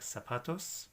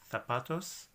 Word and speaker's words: zapatos: word like zapatos shoes you need to say this ed like an S in Spain they may say that letter like a sapatos again don't complicate your life just say it like an S Zapdos okay so one last